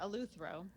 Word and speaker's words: eleuthero: so now I don't know if I'm even pronouncing it right, but it was eleuthero. Is that how you say it? Eleuthero. Yeah, eleuthero.